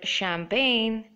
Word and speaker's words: champagne: both are silent here in this word foreign G is silent and make sure you write it when you're writing it and in this word champagne G is silent through